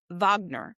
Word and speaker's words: Wagner: year for the Vag, they pronounce it Vagner, the Vagner festival.